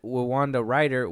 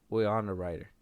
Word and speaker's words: Winona Ryder: And Wanda Ryder will be coming back to reprise her role as Ryder. Lydia. Winona Ryder.